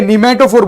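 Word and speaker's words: pneumatophore: सो now this special type of root, okay, निमेटोफोर बोलते हैं उसको, क्या बोलते हैं, निमेटो, पी साइलेंट है उसका।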